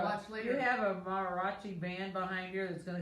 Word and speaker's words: mariachi: Marachi. I don't know what it is. Marachi. I was trying to say it right, but you know, sometimes it just doesn't. It just doesn't work. Mariachi. Mariachi. I knew there was something missing there.